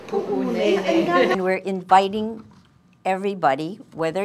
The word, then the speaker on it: Puʻunēnē: correct, today now they're teaching the kids to pronounce it correctly, Puʻunēnē. I think for us plantation kids, I don't think for us we'll ever be comfortable saying Puʻunēnē.